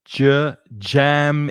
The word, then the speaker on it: jam: And the pronunciation of jam is the same as in words like judge, for example, juez, or June, July, January.